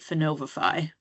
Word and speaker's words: Finovifi: Am I saying the name of your company right, Finovifi? Yes, you are. It's pronounced different ways by other people, but that is correct.